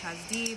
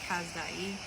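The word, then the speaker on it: כשדי: Kazdi, it's actually pronounced Kazdi, but it says Kazdai. Okay, it means Chaldean.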